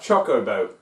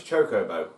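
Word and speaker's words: Chocobo: when he came but it's like choco boat no it's choko boat so what yes master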